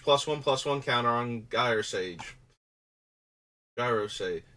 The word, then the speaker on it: Gyre Sage: Gyre Sage? When it's Ulamog, I prefer the hard G because it sounds more menacing. For creatures that are not Giant Doomsday Eldrazi, I think it's Gyre, like Gyroscope.